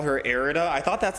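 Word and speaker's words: Irida: pronouncing it correct with erida like era but with a d yeah like I said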